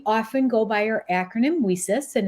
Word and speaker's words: WiCyS: We often go by our acronym WiCyS, and it's spelled WiCYS. We pronounce it WiCyS like we sisters because that's exactly what we are.